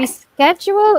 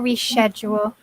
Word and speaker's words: reschedule: Reschedule or reschedule? Yeah. So it could be a sk or a sh. Schedule, schedule. American and British.